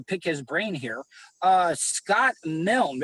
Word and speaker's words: Scott Milne: his brain here uh scott milne it's scott milne right because i hear that the e is silent okay that's correct title